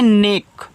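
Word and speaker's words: neck: एन ई सी के इसको पढ़ते हैं नेक।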